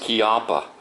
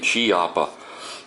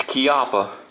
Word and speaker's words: Chiappa: is made in Italy and yes it is pronounced kppa um I hear a lot of people saying chippa but no it's kppa and this is a really nice holster I